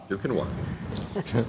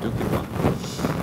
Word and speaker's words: Duquesnoy: Someday I'm going to teach you how to say my name right, Andy. Quinoa. We got it? Yeah. Duquesnoy. A plus. Okay. Duquesnoy.